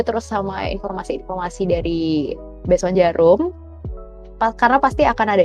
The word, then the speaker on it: Djarum: best one the jeruk jadi kayak bacanya itu besok jarum tapi ada D yaitu ya kita rezeki